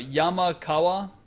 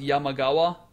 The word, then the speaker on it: Yamakawa: Yamakawa could also be pronounced Yamagawa.